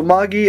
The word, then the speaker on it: Magi: So Magi, another one.